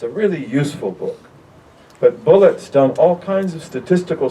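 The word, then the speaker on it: Bulliet: named richard bullock and b-u-l-l-i-e-t bullet he pronounces a bullet and um you should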